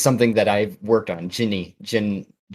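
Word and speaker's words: Djinn: Jin. Jin. I know. Yeah, it's spelled Dijin. Yeah. Yeah. So I've always said it in my head, Dijin.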